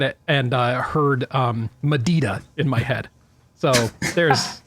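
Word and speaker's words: MADDIDA: Well, like I like I said on the episode, I was calling it Mad Ida because specifically the Northrup brochure says to pronounce it like Mad Ida.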